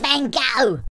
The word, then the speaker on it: Van Gogh: It's pronounced Van Gogh. Like, how fast can that van go?